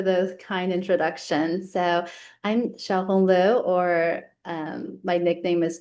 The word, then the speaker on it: Xiaohong Liu: So, I'm Shiao Honglu or um my nickname is. Often people have trouble pronouncing it, so they just call me Dr.